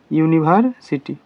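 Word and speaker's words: university: একটা তুমি হি দিয়া যে ইউনিভার্সিটি কি হব ইউনিভার্সিটি উচ্চারণ কি নিচ হইছে ইউ নি কি হইছে ইউনিভার্সিটি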